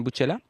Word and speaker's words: Bucella: C'est bien Buccella? Oui, parfaitement.